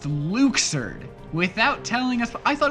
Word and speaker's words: Luxord: loud, and they decided that it would be pronounced Luxord without telling us. I thought it was Luxord.